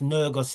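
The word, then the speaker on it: ንጉሥ: Then after Rastafari, on the 7th of October, Nergus, or we pronounce it Negus in the English, but it's pronounced Nergus in the Amharic.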